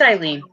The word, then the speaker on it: Eileen: Is it Elaine or Eileen? It's Eileen. Eileen.